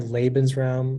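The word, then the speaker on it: Lebensraum: institution or Nation under the sense is the labens realm or live in space or living space policy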